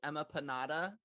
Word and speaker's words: Emma Panada: an even better name and that it's emma panada like empanada but with emma love it um so